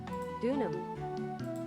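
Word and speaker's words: Deauxnim: thought of that so the ex is silent okay ex silent ah what a sweet thing to say and please call me no don't call you I here n do without X so d e a u x n I am is pronounced d her last name they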